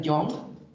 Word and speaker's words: Young: gustaría que la revisaran, se llama escala de manía de Young, así como se escribe joven en inglés.